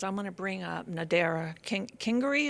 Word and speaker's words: Nadera Kingery: Now, speaking of teachers, what I'd like to do now is I'm going to bring up Nadera Kingery. Is pronounced correctly? Yes.